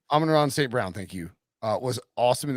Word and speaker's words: Amon-Ra St. Brown: Amon-Ra St. Brown. Amon-Ra St. Brown, thank you.